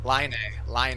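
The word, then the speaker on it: Laine: Patrick Kane or Lane? See, I got too. You want Do you want know Do you want to actually pronounce it? Huh? Line.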